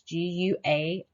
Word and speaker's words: guaiac: It has to be looked through a microscope, and that is called a stool guaic. It's Guaiac. That's how you spell it.